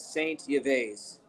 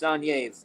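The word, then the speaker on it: Saint-Yves: He was from France, and his name is Saint Yves, if you pronounce the words in English, but it's pronounced Sanyev in French.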